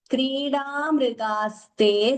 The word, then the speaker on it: क्रीडामृगाः: There is no dvitvam there. There is a tendency sometimes to double the ma, but we should not do it.